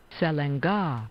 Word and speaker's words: Selenge: I'm going to get a little help here on pronouncing the name of this river. Selenge. So the Selenge River, we'll go with that.